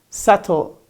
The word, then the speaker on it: subtle: followed by and doubt like for example here subtle subtle almost at the end of the world